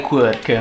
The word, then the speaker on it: quirk: La pronuncia corretta è quirk. Anche se molti, come dire, hanno cominciato a leggerlo all'italiana.